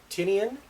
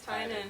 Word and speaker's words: Tynan: Tinian, you are fantastic. Tynan. Tynan? It's Tynan.